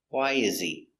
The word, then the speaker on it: why is he: He is not stressed. So the H is silent. Why is he?